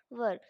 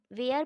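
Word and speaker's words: were: तो first of ऑल मैं बता दूं कि इसे बहुत लोग वेयर पढ़ते हैं लेकिन ये इसकी करेक्ट प्रोनाउंस एशन नहीं होती है गाइस इसे हम लोग वर पढ़ते हैं डब्लू ई आर ई वर और वेयर अलग होता है वर अलग होता है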